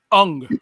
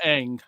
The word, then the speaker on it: Aang: And introducing Ung, not Aang. Ung. Ong. Yes, tell me about that. Oh, that's right. They don't pronounce things right.